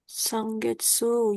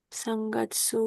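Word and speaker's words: 三月: Sangetsu Yoka Bukan Jun. Getsu ya? Gatsu. Kalau Oh misal, iya. kok Sangkagetsu, Nikkagetsu itu baru Getsu. Tapi kalau bulannya Gatsu. Sangatsu Yoka Junichi Goro Midori sa Hai.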